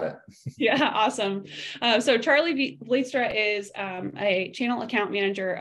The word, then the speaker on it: Vlietstra: But we felt like this was the perfect opportunity to bring in the lovely Charley Vlietstra. I pronounced that right, Charley?